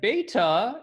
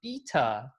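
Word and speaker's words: βήτα: Like beta, in our words, is not the correct way to pronounce the letter B in the Greek alphabet. It's actually pronounced beta, and pi should actually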